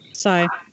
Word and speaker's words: SAI: Sigh. Or SAI. People call it SAI or they spell it out SAI.